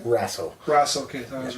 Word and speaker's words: Raso: Mike here with Jason, and how do you pronounce the last name? Raso.